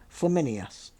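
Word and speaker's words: Flamininus: We've come across this name before, but anyway, let's just get it clear so you can make your own decisions about pronunciation. It's Flaminus.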